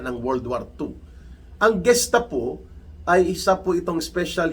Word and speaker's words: Gestapo: It is spelled Golf or G-E-S-T-A-P-O. Gestapo po ang pag-pronounce niyan. Ang iba binabasa nilang Gestapo, pero it is pronounced Gestapo.